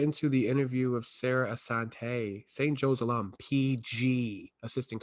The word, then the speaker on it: Assante: Episode 12, and we finally got our first female, and ironically it has to be an alumni, Sarah Assante.